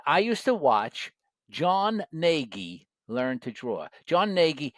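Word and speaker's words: Gnagy: used to watch John Nagi learned to draw John Nagi his name is spelled g n a y John J O N ngie learned to draw and uh he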